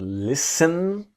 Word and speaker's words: listen: to this idea that the t is silent it's not listen but listen to listen to me you